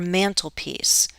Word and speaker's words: mantelpiece: Where do we find a mantle or mantelpiece? This is another content word. I'm not going to stress the conjunction. Mantelpiece. Bump, bump, bump. Which syllable is stressed? This one. Mantelpiece.